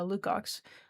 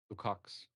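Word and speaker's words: Lukács: According to the Hungarian George uh Lucox, is that how you pronounce it? Lukox.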